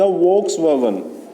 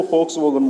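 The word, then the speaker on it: Volkswagen: This project produce the famous German super highways and the peoples car एंड द वोक्सवैगन. द फोक्सवैगन वी नहीं count किया जाता, वो pronounce किया जाता है, इसको फोक्सवैगन बोलते हैं.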